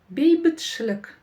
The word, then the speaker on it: бейбітшілік: Кончиком языка тянемся к нижним зубам и на полуулыбке, да, произносим нечто среднее между буквами и И. В общем, повторяйте за мной. Бейбіт, бейбіт, бейбіт, бейбітш, бейбітш, бейбітшілік.